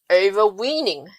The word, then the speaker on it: overweening: And talking about jerks, a second word of the month is overweening. Over and weaning. That's one word actually, and the weaning part is spelled as W-E-E-N-I-N-G.